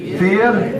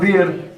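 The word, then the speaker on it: vier: up at cliff anyway fear not not ver fear it's spelled it's it's spelled v i e r but it means it's pronounced fear fear Bim sex some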